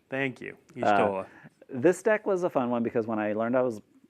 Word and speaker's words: Y'shtola: And then our fourth deck, we have Final Fantasy XIV, featuring, I do not know how to pronounce this. Y'shtola. Thank you. Y'shtola.